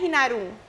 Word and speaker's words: Inarum: Pero en realidad es Inarum. Okay. Con el acento en la U.